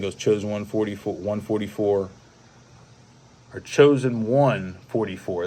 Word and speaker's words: Chosen 144: And then I think it was Chosen 144, or Chosen 144. That's how you say his name. Yeah. But you spell it out as Chosen, CHOSEN, the number 144.